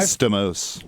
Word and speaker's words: Stamos: John Stamos actually John Stamos my first ever it's actually pronounced Stamos if it was Theos that would make him 30 times less hot that Stamos no it's Stamos it's the whole thing